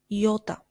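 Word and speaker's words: ιώτα: which means to want iota Yota which we pronounced again as e like in the name of the country Italia Kappa Kappa which we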